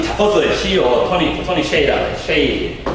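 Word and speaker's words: Tony Hsieh: 이 자포스의 CEO 토니 쉐이라고 해요. 쉐이 발음을 정확히 해요.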